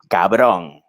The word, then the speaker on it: cabrón: Spanish, I've noticed that the emphasis is not in the last syllable; it's in the second to last. It's like da da da da da. So you have a so when you get one that ends in the last syllable, like cabrón, and you just hit it full, it has that extra oomph, because since most of the words end here.